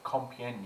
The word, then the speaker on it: Compiègne: Agustin and her companions or maybe common more commonly known as the martyrs of compiègne yay I think that's how you pronounce it so basically there were